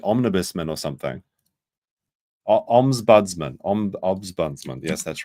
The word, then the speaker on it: Ombudsman: Ombudsman.